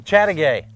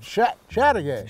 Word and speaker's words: Chateaugay: I couldn't pronounce it, Chateaugay. remember? Chateaugay. Chateaugay.